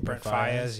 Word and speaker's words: Brent Faiyaz: Brent Faiyaz.